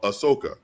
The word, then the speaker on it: Ahsoka: further down that rabbit hole episode six of Ahsoka did I pronounce that correctly that's right um let's backtrack